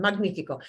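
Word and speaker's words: magnífico: magnifico magnifico magnificent yeah so it's going to get the hard g sound magnifico magnifico is what we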